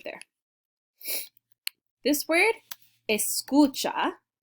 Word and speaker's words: escucha: right there this word escucha i know it looks like scooch it means listen that's